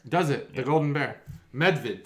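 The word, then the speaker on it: Medvjed: it up it's pronounced medved it means the golden bear does it the golden bear medved so the j is totally silent with the e d it's more of like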